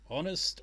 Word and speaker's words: honest: We've got honest and honestly, but we don't have. I've only just realized that. Honestly, honest. The H is silent.